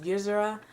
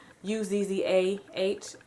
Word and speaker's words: Uzzah: And I think the pronunciation of his name is Uzzah, Uzzah.